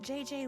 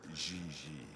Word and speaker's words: JJ: En français, you pronounce G like J and J like G. She may very well be JJ in America, but in France, she is Gigi.